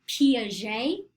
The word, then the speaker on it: Piaget: notes now, is Jean Piaget. He was French, that's how you say his name.